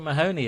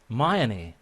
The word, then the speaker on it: Mahoney: you don't pronounce it mahoney in ireland you pronounce it mayani the h just disappears um so tell us